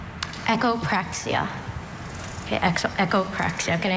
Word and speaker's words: echopraxia: Echopraia. Can I have all the information, please? Echopraia has no other uh pronunciations.